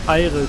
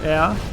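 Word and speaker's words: Ayre: voice changes it is because I changed the IRA to air because I didn't want to come off as absolutely stupid for pronouncing it wrong but I was playing Japanese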